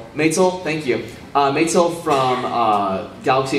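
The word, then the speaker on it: Maetel: I can never know how to pronounce this name. Maitel, thank you.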